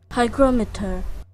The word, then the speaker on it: hygrometer: it's just for that right here how to pronounce it hygrometer hygrometer hygrometer hygrometer okay so clearly I am